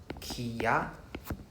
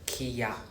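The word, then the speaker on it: きゃ: So we we call this the contracted sound. So if we pronounce as a ka is two mora, right? Two breath. Kia Kia is two is two mora but we don't want to read them as two mora we want to read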